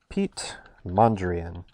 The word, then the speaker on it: Piet Mondrian: about an artist and his name is pete mondrian and yes that is the way his first name is spelled p-i-e-t and he was an